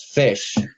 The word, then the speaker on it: ghoti: because like in the word enough, the GH creates an F sound. Oh my god. And then then O is sometimes pronounced as I in certain of our words, and then the TI is pronounced as sh.